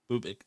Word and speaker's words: Bubic: Is Skubal against Waka, and then Sunday 2:10 game start will be Montero against Bubik. Is that how you say it? Bubich, yeah. Bubich, yeah.